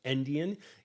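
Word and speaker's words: endian: years ago we called it Indian but it's pronounced Indian e n d i a n um and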